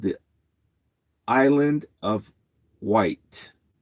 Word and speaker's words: Wight: But over near the United Kingdom, they have an island, and it's called the Island of Wight. But White is not spelled White. It's spelled Wyght or something like that.